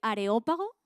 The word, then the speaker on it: Areópago: ¿Puedes buscar una imagen, Johnny, del Areópago? Areópago, con acento en la O porque es de esdrújula.